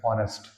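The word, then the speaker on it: honest: ऑनेस्ट ना कि होनेस्ट निकल रहा है। कुछ लोग बोलते जरूर हैं। ऑनेस्ट बट होनेस्ट कुछ होता ही नहीं है।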